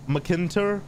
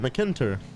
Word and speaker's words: McKinter: It's pronounced McKinter. That's what I said, McKinter.